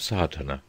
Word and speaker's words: Sadhana: may be added about the pronouncing of sartana the accent falls decisively on the first a which has the broad sound of the letter chapter one the relation